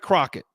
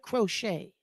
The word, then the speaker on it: Crochet: I think but Garett Crockett okay um from the white socks that's aoun he pronounces it crochet crochet Crockett cro okay